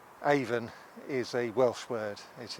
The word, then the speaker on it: Avon: we have so many Avons in England and Wales and Scotland. And pronounced Avon, even though it's spelt A-V-O-N. It is not. We're not selling lipstick here.